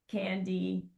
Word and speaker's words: candidiasis: A fungal infection caused by an overgrowth of yeast is called pronouncing this word, candidiasis.